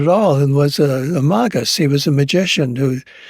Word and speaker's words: magus: And magus is, I use a Latin pronunciation of that word, magus, meaning like the magi, the magus, the magician.